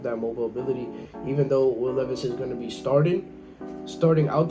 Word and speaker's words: Will Levis: That's how you say it, Will Levis.